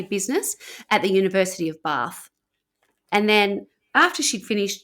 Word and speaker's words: Bath: She also ended up at a grammar school in Oxford and she did study business at the University of Bath.